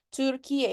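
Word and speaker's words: Türkiye: Turkiye.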